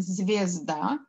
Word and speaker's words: звезда: Мы пишем «звезда», а говорим «звезда». Мы слышим звук «и» при произношении в слове «звезда», поэтому оно нам подходит.